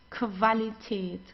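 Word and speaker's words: Qualität: Whenever you have a Q and Q together, you pronounce it as like a K and W together like German W. Okay. So we don't say because many people say but it's not it's okay. So like in English it's quality but we don't have this in in German.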